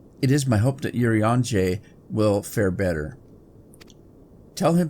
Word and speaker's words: Urianger: My pet name for him, because I have to really think every time I say his name, Urianger, because I want to call it You're Angry.